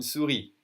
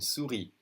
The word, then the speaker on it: souris: A mouse is une souris. Whether it's the animal or the computer thing that you drag, it's une souris. Okay, we don't say the final S. Une souris.